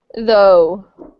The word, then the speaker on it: though: Though. Daughter, good. Yes, though is an O sound. Instead of ah, it's O, like round O.